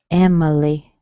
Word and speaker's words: Emily: Emily. Okay, the I has been reduced.